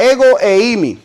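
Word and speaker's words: ἐγώ εἰμι: de dios yagüe y en griego se pronuncia ego e imi yo soy el que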